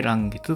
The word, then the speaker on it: 嵐月: 嵐月、嵐の月と書いて嵐月と読みます。